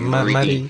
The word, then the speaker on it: Marie: Marie if you want to say it like a French person, and Marie if you want to say it like an English person.